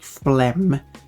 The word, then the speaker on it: phlegm: But we have to spell the word, like another example is like phlegm. But we have to spell it with a G because we need to show its connection to phlegmatic.